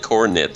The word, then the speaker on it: Corinth: Is it Cornith or Corinth? No, it's spelled on her. It's on her sheet. It's spelled Corinth, but she says it Cornith every time.